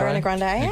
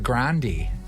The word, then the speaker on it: Grande: and you know what it's actually pronounced um Ariana Grandy Grandy yeah yeah Grandy Grandy Grandy AR if it's Italian it's Grandy no it's Grandy y well it would Bey I imagine it would be Spanish y Arana she's Italian